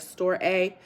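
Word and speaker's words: storge: the first one is Story Story It's s t o r g e if I remember correctly it's pronounced like store a it's an empathy bond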